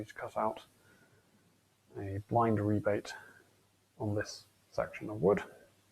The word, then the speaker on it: rebate: I'm led to believe it's still supposed to be pronounced rebate, but in some places they pronounce that rabbet.